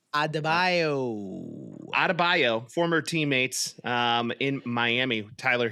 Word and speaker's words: Adebayo: So Tyler Herro and Bam, how do you pronounce it? Adebayo? Adebayo.